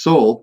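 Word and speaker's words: sál: into existence and there's the Norse word Saul s-a-l who pronounced Soul which literally it means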